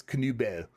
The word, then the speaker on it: Canubel: Oh wait, this is from Canubel, who taught me how to say his name. Nice. We were saying Nobel. I guess Canubel is actually how you say it.